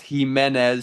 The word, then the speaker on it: Jimenez: Audrey Himenez, I got corrected on that from David Pastor. He said it's Himenez. So, we'll try to pronounce that correctly.